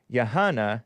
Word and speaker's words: Yahanna: YAHANNA, am I pronouncing your name correctly? Yes, you are.